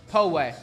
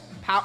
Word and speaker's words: Poway: It's pronounced Poway. Poway. Poway.